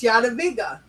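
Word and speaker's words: Jadwiga: I know, and it's Yadaviga. Yes, it is. See, I know it. that it's I very nice. You pronounced it very nice.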